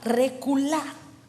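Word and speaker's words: רכולה: Es la palabra reculá, con acento en la A.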